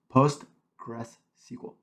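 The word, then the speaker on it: PostgreSQL: this is we'll start with postr gr post post Gress SQL say that fast that's how you say it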